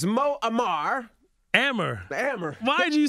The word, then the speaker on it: Amer: Amer. Why did you say it right the first time? She messed with you so bad. Amar, you made me Muammar Gaddafi now and everything.